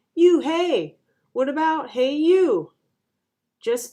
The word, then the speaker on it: Unhei: corrected it's spelled u-n-h-e-i it's pronounced oh it's you hey the boy said like you hey what about hey you